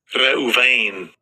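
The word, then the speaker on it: ראובן: En el hebreo la palabra es en Strong, es H7200 y así se pronuncia. Strong's H7205. Reuven.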